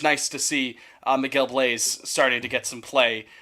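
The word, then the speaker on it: Bleis: up a couple times Blaze like a fireplace Blaze that's a song find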